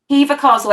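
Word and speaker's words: Hever: neither cows awesome awesome name a favorite place heaver castle down in kent near me gorgeous eve spell it eva castle h-e-v-e-r eva castle it's uh you've heard of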